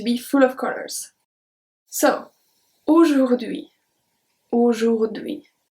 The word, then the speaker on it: aujourd'hui: So, aujourd'hui, aujourd'hui. The H is silent. We never pronounce the H in French. H is always going to be silent.